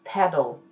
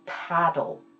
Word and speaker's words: pedal: your foot and pedal remember when you pronounce this the word pedal PDA l don't open your mouth too much otherwise you'll be saying paddle paddle with a PDA